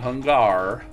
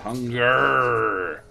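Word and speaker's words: Hungurr: Hunger. Notice how it's spelled. Hun-G-U-R-R-R. There's no A in it. It's not Hungar. It's not one 3 R's. Hunger. I can't roll my name R's like Spanish, but Hunger.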